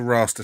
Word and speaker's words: Raster: I suppose Raster rhymes with master, so we'll go for Raster Scan.